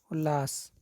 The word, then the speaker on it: उल्लास: संधि है, व्यंजन संधि त प्लस ल दोनों मिलकर डबल ल का उच्चारण करते हैं, उल्लास, ऑप्शन नंबर ए सही है।